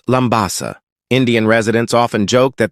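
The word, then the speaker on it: Labasa: It is spelled Labbasa in English, but it is pronounced Lambasa.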